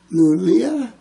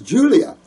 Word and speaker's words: Julia: Oh, this is Lulia? Lulia? Is that right? Is that an I or an L-U-L-I-A? Oh, country boy. Not real good pronouncing. Oh, my name is Julia.